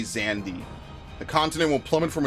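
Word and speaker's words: Xande: we'll destroy this town in the name of Zandy it's yes it is pronounced Zandy as we know from 14. it's crazy I know I always said zand they say zandi the continent will plummet from its place in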